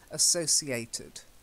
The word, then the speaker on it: associated: when it's te d the E is pronounced associated okay I thought they